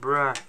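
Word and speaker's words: bruh: B-R-U-H, pour info, ça se prononce bra. Donc quand j'écris B-R-U-H, messieurs dames, ça veut dire bra.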